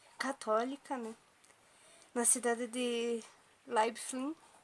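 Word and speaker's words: Leiblfing: Na cidade de Leibfling. É pra ser assim a pronúncia, eu pesquisei no Google, é pra ser assim.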